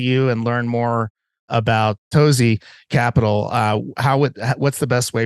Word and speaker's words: Touzi: And then the company is spelled Touzi, which is TOUZI.